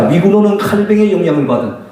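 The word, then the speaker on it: Calvin: 자, 미군호는 칼뱅의 영향을 받은, 우리 영어로는 칼빈이라고 하지만 이분이 프랑스 사람이니까 프랑스식으로 발음한다면 장 칼뱅을 그렇게 얘기합니다. 자, 16세기에서 18세기 프랑스 개신교 성도들을 일컫는 말이 위그노입니다.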